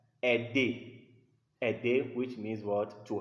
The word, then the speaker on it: aider: AI is pronounced in French E, like aider.